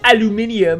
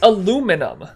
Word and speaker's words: aluminum: though that sucks if you look up how aluminum is spelled there's no second eye so to say like oh it's aluminium that doesn't make any sense see you say it weirdly not us dog you spelled it wrong it's not spelled with a second eye there's only one eye in there it's aluminum if it was spelled